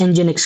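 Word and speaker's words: nginx: आप बताइए इंजीनिक्स हम इंजीनिक्स एंजेक्स ठीक है इसको प्रोनाउंस एंजेनिक्स करते हैं।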